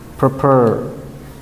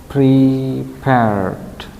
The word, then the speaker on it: prepared: to be correct tit the first is uh prepared yeah not proper prepared can you repeat after me prepared yes prepared and then